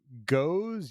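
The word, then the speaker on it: Gose: right conversation's over but I pronounce I pronounce the beer style goza uh I always have and I don't know you want to pronounce it goes you want to pronounce it goes a you want to pronounce it geez I don't care how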